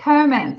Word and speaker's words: Komons: Is it Komons or how do you pronounce it? I don't want to say it wrong. No, it's Komons.